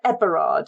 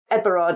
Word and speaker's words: Heberard: And the Master Heberard mentioned, he's actually Mr. Eberard. So you can imagine the way that Eberard is said in the area with the H pronounced, and he is the manager of the glassworks.